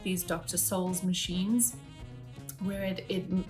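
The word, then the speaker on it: Dr. Scholl's: that I like to use is Dr Souls it's spelled s-h-o-l-l-s so it's like skulls but Souls but play on words kind of thing these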